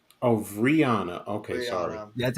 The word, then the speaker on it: Rihanna: guys by the stream there you go Brianna of Rihanna okay sorry that's how you say it yeah